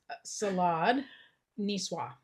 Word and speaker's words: salade niçoise: Salade niçoise.